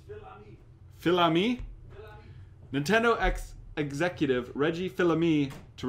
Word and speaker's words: Fils-Aimé: It's gonna hurt me because I was gonna ask him how to pronounce the last name. It's Phil-Ami.